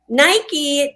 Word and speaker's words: Nike: Nike does look like it would be pronounced Nike. It rhymes with Mike and bike.